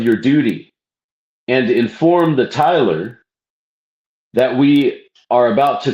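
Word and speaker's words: Tyler: earlier in the pages, I referred to the tiler. The tiler is T-Y-L-E-R. Okay. Master to junior deacon. Attend to that part of your duty and inform the tiler that we are about to close this lodge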